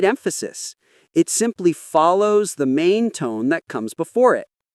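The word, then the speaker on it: 吗: It simply follows the main tone that comes before it. A very common example is the word ma, the question particle. It's never pronounced as a full tone. It stays light and short like a soft m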